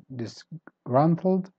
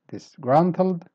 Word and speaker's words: disgruntled: meaning the storming and same thing with disgruntled disgruntled so stressed grunt word number 10 encroach start weak and then you go up encroach word number 11.